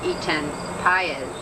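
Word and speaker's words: Etan Patz: another very famous child, Etan Paez, who is Pate, as some people pronounce it, whose parents have, as the Goshes have, spent endless hours searching for their lost son, and much pain.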